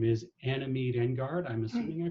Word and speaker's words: Anna Meade Engard: and an all-around amazing person her name is Anna Mead and guard I'm assuming I pronounced that right that's right okay so at